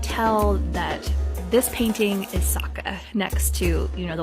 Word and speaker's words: Sokka: turned out okay it's time for soccer that's one too many syllables there bub now saka is going to be